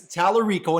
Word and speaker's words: Tallarico: I'll do the heavy lifting okay okay it's talarico and he runs a place called The Beat